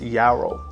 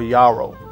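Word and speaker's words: yarrow: very unique note of I think you pronounce it Yaro or Yaro uh y a r r o w Yaro and it's a spice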